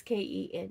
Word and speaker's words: Kennita: I may say her name wrong, but her first name is, it's either Kanetta or Kanita, or it could be something else entirely. It's Kennita, and I think her last name is right.